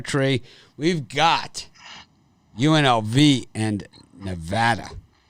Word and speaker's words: Nevada: we've got unlv and nevada often often mispronounced as nevada but it's for this one i just think it's too many points for nevada it's nevada brian too